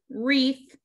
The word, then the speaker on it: wreath: This is wreath, We don't pronounce the W.